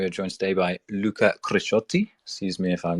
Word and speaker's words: Crisciotti: to to be here my name is Luca grishotti you have pronounced it very well um I'm I'm Italian